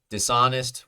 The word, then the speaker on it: dishonest: board right and impressive dishonest we know as a second syllable stress cuz we start here Dison Dison three syllables let's check uh the second syllable dishonest dishonest the ah dishonest that's the stressed syllable dishonest no dishonest and we do not say is UN asked no it's dishonest uh what's next we